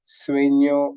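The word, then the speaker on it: sueño: all right so anyo sueno Banyan sueno me sleep our dream and banyo means bathroom so just imagine that n and y were fused and this is how you would produce the angle right oh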